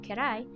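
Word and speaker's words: 嫌い: The first kanji is pronounced again as dai, and the second is pronounced as kira, with the last character actually being the hiragana for i. The first kanji means big again, and when used together, kirai is an adjective meaning dislike or dislikable.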